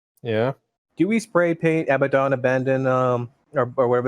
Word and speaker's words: Abaddon: Do we spray paint Abaddon Abandon or whatever it's called on our expanding on the side of the shell or not? No, we spray paint Abaddon. Abaddon?